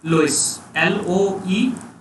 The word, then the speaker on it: loess: नाउ the third agent wind, aeolian and आपका एक और टर्म है that we call it एज लोइस, LOESS.